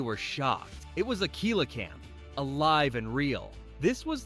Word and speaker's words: coelacanth: Now let's talk about one of the most mysterious living fossils, the coelacanth, pronounced coelacanth.